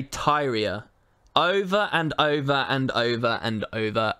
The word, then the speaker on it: Tyria: did he do wrong they pronounced teria wrong over and over and over again they say Tyria over and over and